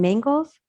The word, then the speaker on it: Mangels: interview and may emmy how do you say your last name mangles uh-huh m with angels yeah oh rhymes with angels oh my gosh and